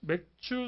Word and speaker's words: 맥추: 그래서 맥추 소맥 감사절이래요. 원래 우리나라는 맥주 소맥 검사절 잘못 발음하면 해석 사람들이 아주 좋아하는 그게 되는 것인데 맥추 소맥 감사절이 이상해서 이제 이거를 줄여서 맥추 감사절이죠.